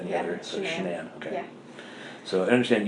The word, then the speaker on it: Shanann: It's Shanann. You pronounce it like shenanigans.